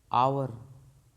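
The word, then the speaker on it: hour: आवर H silent है।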